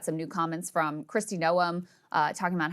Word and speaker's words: Noem: It's gnome, like garden gnome.